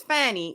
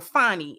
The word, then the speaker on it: Fani: His co-defendant, Michael Roman, alleged that a secret personal relationship between the Fulton County DA, which is Fani, or Fani as she pronounces it, and her deputy, Nathan Wade, amounted to a conflict of interest that warranted their disqualification.